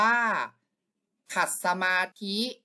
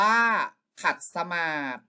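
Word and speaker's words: ขัดสมาธิ: สมาธิ ข้อ ที่ 2 อ่าน ว่า ขัด สมาธ จับ เวลา พ.ย ขอ เฉลย คำ ตอบ ก็ คือ ข้อ 2 นะ ครับ อ่าน ว่า ว่า ขัด สมาธ นั้น เอง ใคร ตอบ ข้อ นี้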